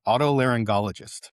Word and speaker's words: otolaryngologist: Otolaryngologist. There you go. I did too. An otolaryngologist or gologist, not geologist. You sure? Not. There's no J.